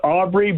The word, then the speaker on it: Aubry: Yeah, it's Aubry, but again, certainly don't have a problem with obliques. That's the French way with my grandfather, so either or works.